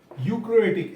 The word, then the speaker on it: eukaryotic: Difference between प्रोकैरियोटिक cell प्रोकैरियोटिक एंड यूकैरियोटिक। इसमें ई जो है ना, वो आपका साइलेंट है। ई क्या है? साइलेंट। ई यू प्रोकैरियोटिक और यूकैरियोटिक।